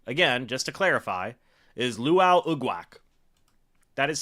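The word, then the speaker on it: Lwal Uguak: Yeah, 75, again, just to clarify, is Luau Ugwak. That is spelled L-W-A-L, first name. Last name, U-G-U-A-K. Yeah, Luau Ugwak.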